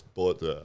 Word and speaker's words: Botha: Every time I say Botha, he's like, no, it's Botha.